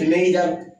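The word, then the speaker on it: neither: Hasn't নেইদার, এটা অনেকে নেইদার, অনেকে নাইদার, অনেকে নিদার উচ্চারণ করে, ঠিক আছে?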